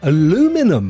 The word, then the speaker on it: aluminum: You pronounce aluminum exactly as you spell it, which is correct. You spell it without the extra aluminium, the IN that we have. Aluminum, you see? We spell it with an extra in it, hence why we say aluminium. But you just cut that bit out and go straight for aluminum.